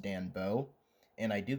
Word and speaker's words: Danboard: I did notice while editing I said Dan Board like a thousand times. That's not the right pronunciation. It's pronounced Danbo.